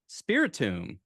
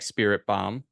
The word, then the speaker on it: Spiritomb: And I gotta say, I was already, not even as a joke, I was already saying it wrong in my head. what were you saying? Spiritomb. I say like Spirit Bomb.